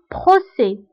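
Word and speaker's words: procès: دونك او اللي كتكون قدام s final non prononcé، هنا هاد s ما كنطقوهاش بحال بروسي بروسي دي.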